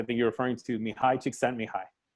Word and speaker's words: Csikszentmihalyi: For a long time, I didn't say his name, and somebody said, no, it's Csikszentmihalyi, and I was like, oh, okay, that doesn't sound so bad now.